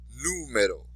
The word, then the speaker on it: número: So even though it ends in a vowel, we're not going to say the second to last syllable. We're going to do it where the exception to the rule is.